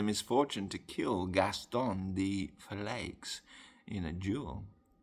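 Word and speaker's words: Verlaix: I would probably say that's pronounced de Falai, because it's spelled capital V-E-R-L-A-I-X. So to pronounce that in the French pronunciation would be Valai, I would assume.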